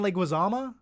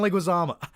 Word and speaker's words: Leguizamo: um i thought john leguizam john leguiza john leguizama why do you think i'm saying his name wrong john leguizomo john leguizamo why could i not remember how to say